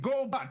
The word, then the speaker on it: Goba: Goba. 2 syllables. Goba. How do you fuck that up?